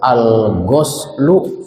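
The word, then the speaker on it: الغَسل: hadis Jibril alghuslu Baka alghuslu dininnya dibaca domomah Gus maknanya artinya adus atau mandi tadi Kalau dibacanya go gos gosl artinya membasuh tulisannya sama tapi kalau membacanya berbeda nanti artinya berbeda kalau alghuslu mandi kalau alghoslu artinya membasuh baik faslun alghuslu tentang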